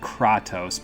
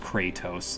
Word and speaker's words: Kratos: I'm so used to saying it Kratos because of Tales of Symphonia, but I'm pretty sure his name is pronounced Kratos, like crazy is the root of the first word.